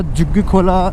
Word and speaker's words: झुग्गी खोला: Extra पैसा देके तो यह है झुग्ग खोला झुग्गजी खोला झुग्गी खोला डिपेंड्स लोकल और बाघा बाहर के लोग किस तरीके से इसको प्रोनाउंस करते हैं। बट इट्स झुग्गी खोला तो झुग्गी खोला में